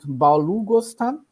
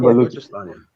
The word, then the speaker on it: Balochistan: types of terrorism in its country, being it Balughistan. Can you help me? I'm pronouncing Balochistan. Yeah, it's called Balochistan.